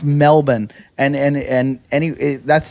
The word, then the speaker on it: Melbourne: it Pittsburgh it's the way it's pronounced it's pronounced Melbourne and and and any that's the proper pronunciation